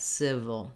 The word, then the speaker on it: civil: just like in the word sit or sip uh but with a v sound instead civil civil then you'll notice here in the ipa for the dictionary there's actually no vowel marked for this second letter i we move quickly uh from the right to the o sound it's that dark or syllabic l you can think of